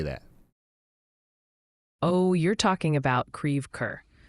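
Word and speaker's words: Creve Coeur: oh you're talking about Creer it's pronounced creev cor the name comes from French and it means broken heart so if you're ever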